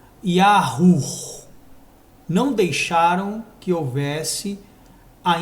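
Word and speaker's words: יהוה: Então a pronúncia seria Yahu.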